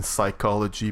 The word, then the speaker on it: psychology: Kind of like in English, you don't pronounce the P in psychology, but we do in French.